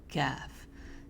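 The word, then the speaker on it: كاف: touching the hard pallet caf. So it's touching the hard pallet. It's a little more dry sounding. Has more air when you pronounce it. It's kind of like the letter K, but you're going to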